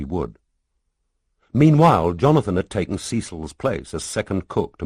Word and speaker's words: Cecil: Melanie Rose taught Bible school and had twin daughters by someone called Cecil, pronounced Cecil, who 3 months ago had taken a return ticket to Eleuthera and thus far had not used the second half.